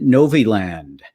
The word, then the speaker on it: Novi Land: engineer and the director of business development at Novi Land I get that right you did yeah I hear a lot of pronunciations of it but that was right good